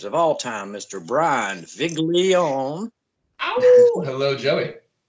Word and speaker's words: Viglione: And Viglione, I love to say that. Viglione. Is that Italian? It is Italian. You pronounce it very nice. That's the American. The Italian pronunciation is very soft. It's Viglione, which I learned on